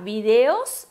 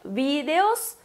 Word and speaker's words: vídeos: Só que quem for pronunciar vídeos não vai ter acento. E quem pronuncia vídeos, aí tem acento.